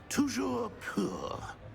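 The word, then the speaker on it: Toujours pur: Tujour poor.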